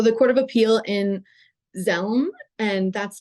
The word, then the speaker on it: Dzelme: So the Court of Appeal in Zelm, and that's spelled DZELME, said that it was at the